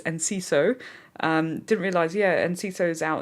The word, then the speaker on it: Enciso: But it's Enciso.